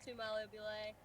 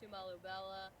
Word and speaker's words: Tomalobela: But so some people say Tumalobela, some people say Tomalobela, whatever you feel like calling it.